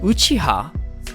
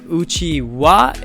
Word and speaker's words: Uchiha: you to know that uchiha the one ha the last hiragana is actually a particle that could be pronounced both as ha and wa and uchiwa is a fan like